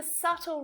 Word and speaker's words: subtle: B can be silent when it's before a T as well.